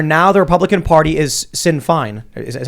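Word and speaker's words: Sinn Féin: Irish republicanism where now the Republican party is Sin Fine is how you pronounce it yes it's in fine uh and it's just a matter of seeing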